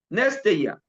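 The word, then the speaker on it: νηστεία: La palabra para ayuno e la palabra en hebreo eh digo en griego, perdón, es Nesteia. Neste, nestea, así se pronuncia, néya.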